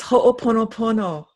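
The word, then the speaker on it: hoʻoponopono: how to pronounce this, ho'oponopono. Oh, no. You almost got it. It's ho'oponopono. Ho'oponopono. Yeah, I'm not sure I'm going to make it my life's goal to get it.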